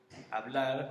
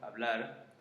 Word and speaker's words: hablar: Most of the time it's mute, which means we actually don't pronounce it. So for example, if we have words like hablar or hola, then we just, as you just noticed, I just go straight away and say I don't say like hablar or hola, no. We just go straight and we read the vowel.